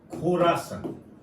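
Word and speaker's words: खुरासान: Islamic state खोरासन। कई जगह इसको खुरासन भी बोला जा रहा है, तो इसमें परेशान होने वाली कोई बात नहीं है।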